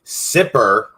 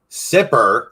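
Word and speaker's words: Sippar: on our map today s-i-p-p-a-r sipper is what how they call it sit bar super right however you want to say it pronounce it you can find that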